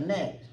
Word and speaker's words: gnat: like a gnat. It's just Come flying on, around. Nat. It's Spelled flying with around.